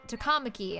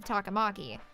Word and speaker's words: Takamaki: pronounced that way um on's last name is pronounced takamaki instead of takamaki so i think they